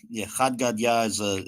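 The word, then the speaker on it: Chad Gadya: how do you say yeah you got it khad gadya yeah khad gadya is a it's an Aramaic song it's popular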